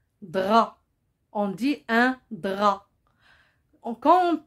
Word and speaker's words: drap: aussi peut être muette un drap il se termine par paix se paie c'est une lettre mienne on ne le prononce pas un drap on dit un drap